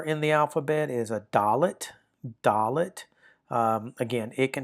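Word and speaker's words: dalet: Now, the fourth letter in the alphabet is a dolllet.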